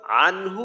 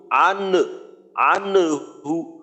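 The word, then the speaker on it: عنه: ঠিক আছে মাশাল্লাহ এরপর আনহু এইখানে নুন সাকিন আসছে ইজহা গুন্না ছাড়া পড়তে হবে আনহু আনহু আনহু হ্যাঁ নুনের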